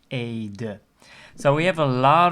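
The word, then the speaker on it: Ede: called Aid so that's the e-d-e and you will need the lesson about pronunciation of the e sound the first e is um a and the second is uh so you will pronounce it as Aid so we have a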